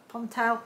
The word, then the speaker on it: Ponte: alice can be matchy-matchy in our little ponte pontel that's how you say it um jersey tops